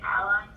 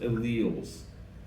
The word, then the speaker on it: alleles: variations of a trait is it allies alleles but yes pronounced alleles all right so let's do a uh we'll do a quick reward all right answer the question 25.